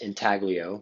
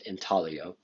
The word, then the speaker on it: intaglio: African Americans another example similar to relief is intalio um often pronounced intaglio but it's it's actually pronounced intaglio um these are areas below the surface that